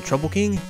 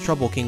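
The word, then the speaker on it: Troupple King: never heard of the trouble King half trout and half Apple pronounced like mouthful he's one of the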